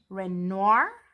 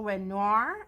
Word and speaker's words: Renoir: So today we'll be looking at the Marco Raffine Fine Art and the Marco Renoir, I believe they pronounce it, Fine Art.